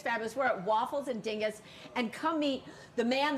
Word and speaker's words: Dinges: you say it the right way waffles and Dingus Dingus between stuff it's like a slang word